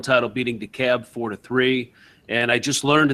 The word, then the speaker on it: DeKalb: Well, Norborn won the Class 1 title, beating DeKalb 4-3. And I just learned that it's pronounced DeKalb.